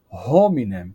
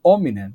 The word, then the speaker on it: hominem: em vez de pronunciar hominem com o H, dizerem hominem sem o H, porque um comentário, a letra H em latim originalmente ela era pronunciada, ela representava um som de H, uma aspiração.